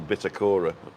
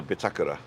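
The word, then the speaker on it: Bitácora: the other day that the hotel bitter Cora is what we all say is actually a bitakura amazing which is the housing of a ship's compass doesn't work yeah that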